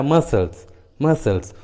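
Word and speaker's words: muscles: जैसे सीजर्स, देखिए English word में एस और सी एक साथ आए हैं, इसलिए सी का उच्चारण नहीं हुआ है, सीजर्स। उसी तरह मसल्स, उसी तरह फैसिनेट, एसेंट, देखिए सभी इंग्लिश वर्ड्स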